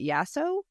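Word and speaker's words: Yasso: you ever had um I think you pronounce it yaso yaso bars they're like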